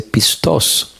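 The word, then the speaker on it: πιστός: masorético nuevo testamento griego Cómo se dice la palabra fiel y encontré que la palabra se dice pistoso aparece 53 67 veces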